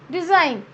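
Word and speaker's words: design: Then where will remain ji sound silent, जहाँ पर जी silent रहता है, like डिज़ाइन. डिज़ाइन वी आर not pronouncing ji here, डिज़ाइन, only DESIN, डिज़ाइन.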